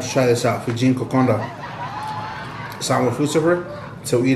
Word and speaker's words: kokoda: fijian kokonda it's it's spell kokoda but it's pronounced kokonda and now let's get a bowl and we're